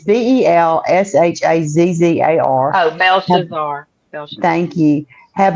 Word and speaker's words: Belshazzar: And the translation Daniel gave us was I cannot pronounce that word. Connie, help me out there. Belshazzar or something. I don't know. It's Belshazzar.